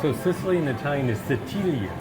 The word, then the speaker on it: Sicilia: So Sicily in Italian is Sicilia. Sicilia.